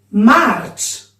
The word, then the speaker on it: Març: March. Che al finisco la C con la cediglia, perché là il suon dolce delle lettere C.